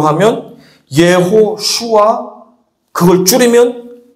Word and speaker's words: 예수아: 여호수아 우리가 여호수아 하는 이름은 히브리 말인데 히브리 발음으로 하면 예호슈아 그걸 줄이면 예슈아 해요 예호슈아 또는 예수아 그럼 어디서 많이 들어본